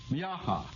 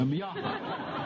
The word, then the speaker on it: Miaja: Now, I'm going to have enough trouble pronouncing them, much less identifying them. The first is Miaha. Now, I'm not laughing at anybody here. Miaja.